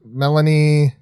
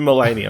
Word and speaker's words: Melanie: and don't look up what i thought you said mulaney i'm like oh okay that's weird character name no it's melanie here mel yeah i